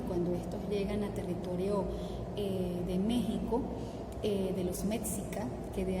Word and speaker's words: México: esto de toreo de méxico de los mexicanos que de ahí viene justamente el nombre por qué sin éxito aunque claro la equis la pronuncian como comuna j y los enfrentamientos con